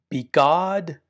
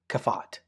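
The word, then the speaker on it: begadkefat: Well, we call this be God. Be e G- A D. We put these little vowels in here. Be God. B E G- A- D. Kafat.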